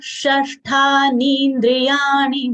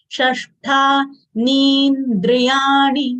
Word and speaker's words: षष्ठानीन्द्रियाणि: Shashtha, both are retroflex letters. Sh retroflex sh followed by conjunct letter,